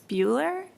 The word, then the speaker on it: Buehler: It's Buehler. Introduce yourself again and proceed with your testimony. Buehler? Thank you, Chair. It's Buehler.